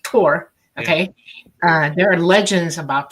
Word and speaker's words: Thor: And Thor is pronounced Tor, okay?